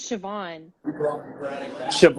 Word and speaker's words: Siobhan: you say that oh that girl's name is siobhan that's how you say it yeah it's pronounced siobhan yeah it's what kind of name is that